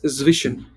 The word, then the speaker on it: zwischen: And how did you pronounce that between actually? Can Between is zwischen here.